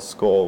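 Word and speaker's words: Skål: night two weeks exactly it's actually called skull which is a scandinavian term for friendship and her cheers well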